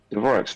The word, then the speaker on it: Dvorak: With the R roughly as a simultaneous trilled R and Z due to him being of Czech descent. Dvorak's family in the US pronounces it Dvorak with an English R.